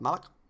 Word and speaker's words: Malak: I'm sure that's how you're supposed to pronounce his name, isn't it? That's the correct pronunciation of Darth Malak. It's Darth Malak.